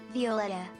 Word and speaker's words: Vetta: My name Vetta is in Spanish and it's very close to the English equivalent. So it gets mispronounced all the time and sometimes even made plural instead of pronouncing the A at the end for some reason.